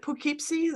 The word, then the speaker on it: Poughkeepsie: Upstate New York in Poughkeepsie is it pukipsi is that how you pronounce it yeah it's pretty close yeah it's uh yeah